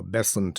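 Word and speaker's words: Besant: in the circle around anib bazant and or bessent as she insisted her name should be pronounced to go with basant the preferred season for theosophy time of regeneration so these two great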